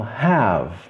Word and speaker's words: have: Eu não falo have, eu falo have. O E é mudo.